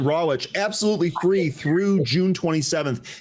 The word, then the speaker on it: Rawitch: Sign up to trade live with Wall Street veteran Dan Radic. Am I pronouncing your name correct? So close. Um, okay. Like an uncooked. Last time I'll screw that up. I promise you. Dan Rawich.